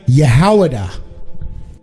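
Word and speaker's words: יהודה: What is the Hebrew pronunciation of the word Judah? Yehowadah.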